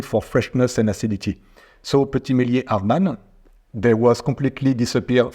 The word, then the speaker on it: Petit Meslier: Well, I understand that you like the Petit Meslier. Did I pronounce it correctly? What? Petit Meslier. Petit Meslier and Arban, because they can retain the acidity, and in the future it could be good.